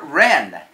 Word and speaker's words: wren: we have the Roman numerals W is for wren the wren wrapped of the rabbits gift in